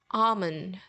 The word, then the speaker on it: almond: repeat with me salmon almond now this one has the same problem because you don't pronounce the letter L in it so instead of saying